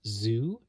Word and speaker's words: Tzu: It was drawn by, I guess it's pronounced Zoo, TZU.